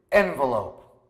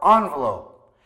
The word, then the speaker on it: envelope: the next word is envelope or envelope even the dictionary says you can pronounce it both ways envelope envelope frankly I'm guilty of